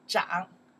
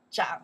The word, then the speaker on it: 长: Okay, right now we pronounce the to grow, yes, 长, 长, to grow.